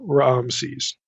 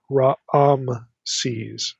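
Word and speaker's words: Raamses: There's like two a vowels in the pronunciation. It's not ram's, it's raises the way this is spelled.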